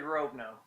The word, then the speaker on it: Rovno: as the Moses of Rovno. And I don't know if I pronounced that correctly. It's actually Rovno. It's Rovno. Okay, it's a long O.